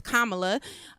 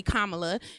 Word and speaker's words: Kamala: Kamala, no, she actually, in her book, she puts the pronunciation of her name as Kamala. She said it is a Indian name that means lotus flower, so it is actually Kamala, because she said it's like the promotion.